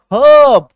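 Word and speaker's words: herb: एच ई आर बी हर्ब वो लिखते तो ऐसे हैं लेकिन जब आप बोलेंगे तो र साइलेंट होगा हर्ब क्यों क्योंकि आर के बाद एक कंसोनेंट नाउन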